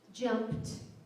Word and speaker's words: jumped: or it that's right but what if I have the word jump and I put suffix ed now how's it pronounced jumped that's right we've got the T sounds like a t sound and what if I